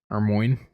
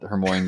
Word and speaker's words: Hermione: I gave you guys my Hermione pronunciation. Hermmo. Hermmo. I was all Hermmon Granger before movies came out.